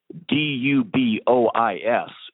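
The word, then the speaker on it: Dubois: say in an area where a town spelled d ub o is would be pronounced du Bois the word cookin Ellis was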